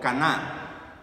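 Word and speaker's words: כנע: Ese término humillación que Dios utiliza allí con Salomón es un término hebreo que se pronuncia como caná.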